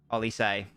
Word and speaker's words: Olise: It's pronounced Olise.